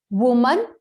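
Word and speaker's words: woman: अब देखो बच्चों इसका आंसर क्या होगा, देखिए वुमन।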